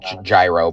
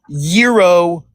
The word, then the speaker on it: gyro: Cuz I'm salty cuz I got to eat my uh gyro, bro. So you have fun. Sounds salty, bro. It's pronounced yurro.